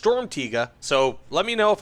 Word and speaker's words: Sturmtiger: comments tell me that I'm correct, it is pronounced Sturmtiger.